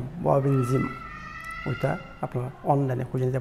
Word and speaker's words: Wobenzym: এটা উচ্চারণ হচ্ছে ববিনজিম, মানে স্পেলিং হচ্ছে WOBENZYM, ববিনজিম।